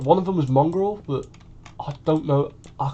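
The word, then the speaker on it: Mongraal: Oh, Mongrel, that's it. Yeah, it was him. Mongrel, that's it. Spelt with a double A, so Mong, and then Ral, or Ral, whatever you say it.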